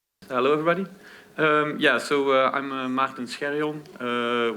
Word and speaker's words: Maarten: I'm Maarten Scherjon, which is a very Dutch name, but I think you can pronounce it as Maarten.